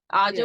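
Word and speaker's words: A'ja: Tell me if I'm pronouncing her name right. Aja Wilson. Aja Yeah.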